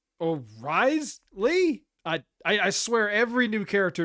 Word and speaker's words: Wriothesley: That wait, it's pronounced Wriothesley?